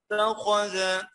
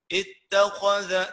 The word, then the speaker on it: اتخذ: فمن شاء اتخذ. اتخذ تاني مولانا معلش حاضر. فمن شاء اتخذ كده، مديت شاء اربع او خمس حركات، وبعد كده فصلت فصلت حروف اتخذ دي الترقيق وحده والتفخيم وحده والترقيق الثاني وحده.